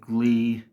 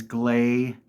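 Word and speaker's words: Gley: incorrectly or Blair uh I might have heard something like Glee or gly but that was so long ago and I didn't dwell on that one so that is glay this is obviously bunny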